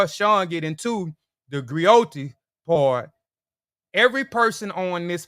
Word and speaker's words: griot: professional Encompass many roles the griac pronounced griot have been referred to